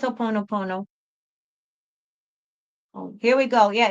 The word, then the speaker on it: Ho'oponopono: I think it's Ho'oponopono.